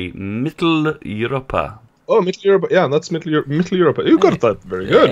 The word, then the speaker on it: Mitteleuropa: Oh, Mitteleuropa, yeah, that's Mitteleuropa.